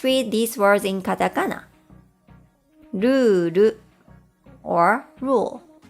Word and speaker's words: ルール: Ruru or rule.